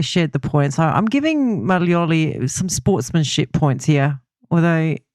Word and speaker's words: Maglioli: And I'm wondering I'm calling him Maglioli, but you're Maglioli. Maglioli. And I've got a silent G in my surname, so I should know better.